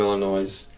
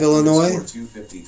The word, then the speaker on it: Illinois: Okay, so the state motto of Illinois is, said, the S is silent, dumbass.